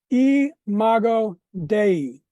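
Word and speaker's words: imago Dei: In Latin, it's pronounced eago dei.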